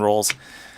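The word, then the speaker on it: Rowls: Rolls. Um I'm a pediatrician, so when I tell kids how to say my name, I say it's like cinnamon rolls, but it's just spelled R O W L-S.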